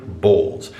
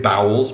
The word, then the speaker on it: Bowles: my last name hayden bowles i always get bowels more often than bowls i've had the occasional substitute teacher back in the day hit me with balls hating balls so i got made